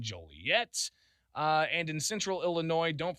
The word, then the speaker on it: Joliet: We said this one, there's no noise in Illinois, and there's no jolly in Joliet.